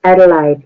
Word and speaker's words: Adelaide: land down under and Adelaide did I pronounce that city right yes adelite yeah adelite okay want to make sure